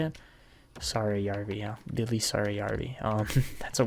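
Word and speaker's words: Saarijärvi: And then Siegenthaler and Sarayarvi, I believe is that how you say it? Sarayarvi, yeah.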